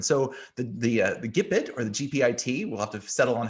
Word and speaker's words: GPIT: As Greg said, I prefer the term using the word or the pronunciation GPIT, because as you said, it's about Jeeps and informal transportation.